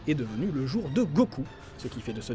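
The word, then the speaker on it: 五: simplement parce qu'en japonais le chiffre 5 se prononcent go et le chiffre 9 se prononce ce coup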